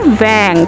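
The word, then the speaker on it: vingt: Vang. V-I-N-G-T, Vang.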